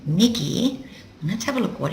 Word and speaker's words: 右: not right as in right and wrong it's pronounced Miggy Miggy let's have a look what it used to